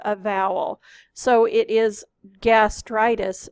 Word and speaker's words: gastritis: So it is gastritis, not gastroitis.